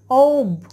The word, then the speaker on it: of: ওকে, সো এখানে যেটা আমি বলছি তোমাদেরকে সেটা হচ্ছে, এখানে দেখো অব হচ্ছে সঠিক উচ্চারণ।